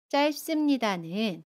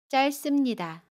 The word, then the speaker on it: 짧습니다: 짧습니다는 짧습니다 라고 발음해요. 겹받침 리을 비읍 중에 첫 번째 받침 리을을 발음합니다.